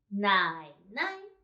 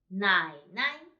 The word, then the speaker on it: 奶奶: 我们一起读 Nǎinai. So, this one should be light and short. Nǎinai.